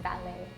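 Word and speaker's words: valet: Yeah, with this one you don't see the T, it's just ballet.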